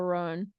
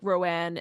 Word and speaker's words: Roan: my name is Chappell Roan and you're like people were pronouncing it wrong or whatever. But I do fall into the like Rowan every once in a while. It slips out.